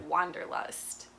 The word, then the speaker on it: Wanderlust: And of course, we pronounce it with the English W, Wander, so we wander, say wander. Wanderlust.